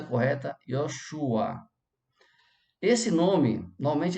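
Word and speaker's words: יהושע: A pronúncia é correta, Yoshua.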